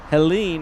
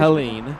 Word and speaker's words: Helene: Helene. Helene, really? Hurricane Helene. I thought it was Helen. Helene. Okay. Yeah. I think that's just because it has the E on the end there.